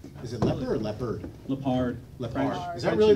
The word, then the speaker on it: Leppard: Lepard.